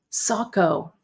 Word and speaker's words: Saco: Saco.